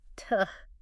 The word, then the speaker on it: to: They try to pronounce to as this really clear, strong T-O-O every single time. Yes. When really most of the time is just tuh.